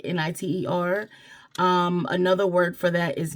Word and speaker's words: nitre: So it's spelled Nitre, but it's spoken in like Niter.